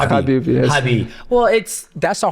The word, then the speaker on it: Khabib: I know it's hard because everybody say Khabib, but his name is Khabib.